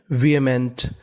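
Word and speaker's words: vehement: क्या पढ़ेंगे वी और इस मीनिंग में हमें एच का उच्चारण नहीं करना हमें हमें खाली ए का उच्चारण करना है। वी एम इ एन टी इसे पढ़ते हैं मेंट। तो पूरी मीनिंग बन गई विमेंट।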